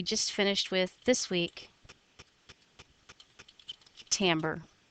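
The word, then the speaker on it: timbre: finished with this week tamber spelled timre pronounced tamber so go ahead put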